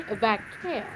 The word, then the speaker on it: Vaquer: Alexa Bliss, Roxanne Perez, Rhea Ripley, Julia, Naomi, and Stephanie Vaquer. Gotta roll your eye to say her name is Vaquer.